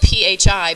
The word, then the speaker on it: phi: And it's spelled P-H-I, but it's pronounced phi, like you pay a fee.